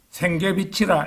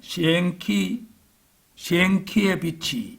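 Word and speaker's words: Sienkiewicz: 신실한 신자이기도 했던 헬리크 시엔기베치의 경우입니다. 이게 우리가 짧게 발음할 때는 생계비치라 이렇게 말하는데 이제 원래는 시엔키의 빛이 이렇게 됩니다.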